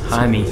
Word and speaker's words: Jaime: It's spelled like Jaime, and I was like, so your name is spelled like the Latino boy's name, Jaime, but you're a white girl. It's like, yeah, no, it's Jamie. Like, everyone gets it wrong.